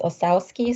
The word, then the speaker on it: Ossowski: rick actually pronounces his osawski so more the american pronunciation it's not a very